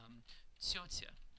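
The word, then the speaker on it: тётя: That word means ant in Russian, and the T's are soft. And listen to me pronounce it. Tsyotya. So you hear it's not like ta ta ta. It's tss tss tss tss tss.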